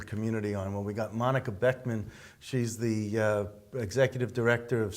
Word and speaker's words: Monika Boeckmann: Well, we got Monika Boeckmann.